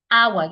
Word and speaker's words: hour: take a deep breath if you're prone to adding that H sound to it then you might want to hold your breath because if you add the H sound to it when you do not need it then we might say